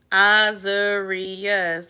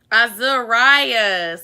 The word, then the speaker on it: Azarias: Azarius. That's what I said. He said I said it wrong. Azarias. It's Azarias. Azarias. Rye, like rye bread.